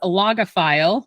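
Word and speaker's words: logophile: it's a new word for you um it's pronounced aoga file if anybody's um wanting to to know um and a few of you might even be Googling the meaning of it but what loga file the definition is that it's a lover of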